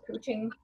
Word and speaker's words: couching: Spelled like couch, C-O-U-C-H, but it's pronounced couching.